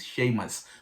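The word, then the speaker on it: Séamus: like i'm pronouncing literally i was thinking it's a moose but it turns out it's shameless which is equivalent to james and then um the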